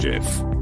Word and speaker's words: GIF: a ramim can agree it's pronounced GIF hard G is a hill I